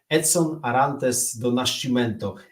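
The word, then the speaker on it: Edson Arantes do Nascimento: nastolatek jest po raz pierwszy mistrzem świata Pele edson arantes do nashcimento nawet jako dziecko Słuchajcie nauczyłem się wymawiać to pełne brazylijskie imię i nazwisko Kim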